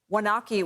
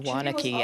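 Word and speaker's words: Waunakee: Killian who is in wanaki Wisconsin I believe is the pronunciation of that Nicole how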